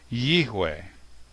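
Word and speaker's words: יהוה: So, in my opinion, the pronunciation of the name Yod-He Vav-He is Yihweh.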